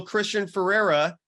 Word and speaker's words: Christian Feraria: and wherever you get your podcast you follow Christian Ferreira did it pronounce that right you did Bam at QTC